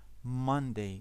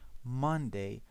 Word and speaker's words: Monday: The stress is on the first syllable, Monday. We don't say Monday, we say Monday.